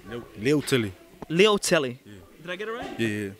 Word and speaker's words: Leutele: just follow me just teach me how to pronounce that last name man i just saying kiki but it's kiki tor litelli no neil tilly leo telly did i get it yeah start like butter